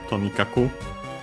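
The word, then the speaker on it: とにかく: Uh actually the accent is on the to on the first motor.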